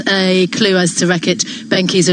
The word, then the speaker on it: Benckiser: If you want a clue as to Reckitt Benckiser and how to say it, it's like geezer.